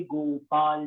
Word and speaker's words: गोपाल: गोपस्त्री परिवेष्टितो विजयते गोपाल चूड़ामणि। ऐसा करिए। दूसरा वाला सर्वांगे से शुरू करिए। सर्वांगी हरिचंदनं सुललितं कंठे च मुक्तावली गोपस्त्री परिवेष्टितो विजयते गोपाल चूड़ामणि। गोपाल, ला पूरा है, आधा ला नहीं है।